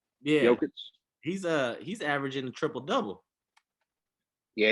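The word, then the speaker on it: Jokić: Jokic. Yeah. Jokic.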